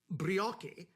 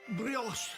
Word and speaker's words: brioche: the metal while indeed it may have seemed to some listeners that i might have said uh brioche knows the proper continental pronunciation being brioche there i hope that settles